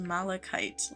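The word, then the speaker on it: malachite: It's kind of pronounced malikite like a kite.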